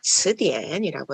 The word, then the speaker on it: 词典: C라고 읽으시면 우리 치읓 발음이고요. C 뒤에 이라는 음모가 있으면 츠라고 읽어주셔야 돼요. 츠. 그래서 우리 사전은요. 츠디엔이라고 해주시면 되겠네요.